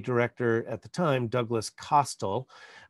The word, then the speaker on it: Costle: the time douglas costell i've heard his name pronounced a number of different ways over the years but in his 2019 obituary in the new york times they said that it was pronounced to rhyme with hostile basically that it's um not